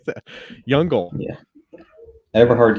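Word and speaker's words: Jüngel: ever ever hard how do you say that jungle yeah ever heard jungle yeah okay so i i was close so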